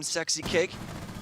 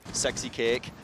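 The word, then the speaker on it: SexyCake: of damage here from sexy kick out on Raptors wait hold on I gotta say it properly sexy cake gotta say that properly there for our friends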